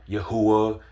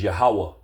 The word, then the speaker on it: Yahweh: You got a lot of Israelite groups pronouncing his name wrong. Yahuwah, Ahaya. No, bro. The true biblical name is Yahweh.